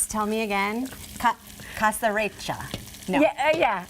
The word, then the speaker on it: caserecce: You know, you pronounce it right. Tell me again. Caserecce. No. Yeah. Caserecce, almost. Caserecce.